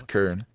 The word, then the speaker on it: Cairn: It's Kern. I'm just kidding, because like a lot of people actually mispronounce Cairn and Blade Fury.